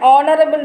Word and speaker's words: honorable: An is also used before words beginning with H when the H is not pronounced, that is, when H is silent. For example, an honest man, an honorable man.